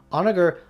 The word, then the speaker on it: Honegger: consonant this meant that in lieu of the traditional french text sitting where the emphasis goes on the second syllable onoger put the emphasis on the first syllable he compared it to a locomotive dragging the rest of the word behind it yeah this dude really